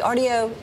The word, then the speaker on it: Artio: is Greg hoer he's portfolio manager of the Rio did I say it right yes you did